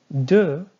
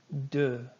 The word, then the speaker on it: deux: Deux. You're not going to be saying the X. Deux.